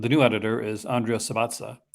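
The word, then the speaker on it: Subissati: And the new editor is Andrea Sabatza. Sabatsa, I think that's pronounced, and she's really good.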